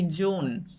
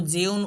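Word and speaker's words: June: জুন। এটা কিন্তু জিউন উচ্চারণ করা যাবে না।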